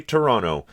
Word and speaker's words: Toronto: things to do in Canada, most specifically in Toronto, which you will hear him pronounce the American way the entire through this video, so I'm just going to say one time now that we say Toronto.